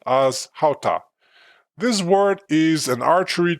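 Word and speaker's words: חטא: It's pronounced as hata.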